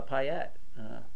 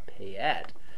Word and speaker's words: Payette: Which he's probably closer at the pronunciation than we are, because I think it really is Payette, but we call it Payette because it's just how we are.